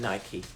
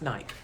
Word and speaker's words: Nike: moment i'm in nike i don't go in nike i thought it was always pronounced nike i've learned that it's called nike and i'm